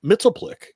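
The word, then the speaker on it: Mxyzptlk: and they used to call him Mitzelplick. That was how they pronounced it on the cartoon.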